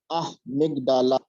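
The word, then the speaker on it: amygdala: And please see a mida a yellow portion a mda it's pronounced a migdala this portion and second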